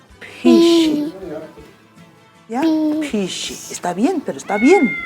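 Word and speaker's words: phisi: Pero el gato es pishi. Pisi. Pi. Pi. Pi. Pi. Pi. Pi. Pi. Así como que botando aire. Pishi. ¿Ya? Pi. Pishi.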